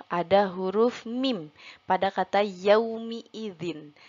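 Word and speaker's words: يومِ: Nah, mim di sini kita baca dengan harokat kasroh. Nah, biasanya seringkali kita membaca ketika kata yauma idzin. Mim di sini biasanya dibacanya harokat fathah. Tetapi pada surat Hud ini ayat 66 kita baca dengan harokat kasroh menjadi yaumi.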